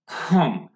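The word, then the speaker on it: comb: তাহলে খ, খ, খ যেটা আসে না একদম গলার ইয়ে, ভোকাল কন্ট্রোল ইয়ার থেকে, গ্লোডল থেকে, খম, খম, খম। এখানে খাম এরকম উচ্চারণ, খম, খম, ঠিক আছে?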